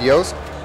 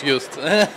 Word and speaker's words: Just: So I'm standing here with Joost. Joost? Yeah, it's actually pronounced correctly in Polish, Just.